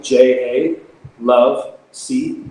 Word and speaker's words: Jalovec: Phil pho and then my last name kind of hard to say that easy to spell it's jello so it's make it simple J a love see and how perfect relationship